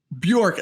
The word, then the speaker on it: Bjork: how do you say your last name Bjork Bjork Bjork and I meant to ask her